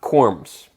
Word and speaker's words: corm: all right let's talk corms yes corns is kind of a funny word it sounds like you're mispronouncing corn when someone says corm Co RM but yeah